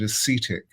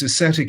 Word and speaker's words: ascetic: were moving into you you called it ascetic i think you pronounced it acetic um this ascetic impulse rather like a